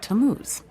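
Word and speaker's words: Tammuz: where do I find him his name is tamuz to what t a m m u z it's pronounced tamuz maybe if you show him your evidence he'll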